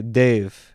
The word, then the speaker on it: Dev: call him dave or dev dave dave dave that's how we say dave and uh then i was wrong too you pronounce it like dave essentially but with like an indian tinge to it so dave we name